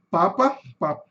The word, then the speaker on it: Papa: Lembrando que a sílaba tônica aqui nesse caso tá no começo.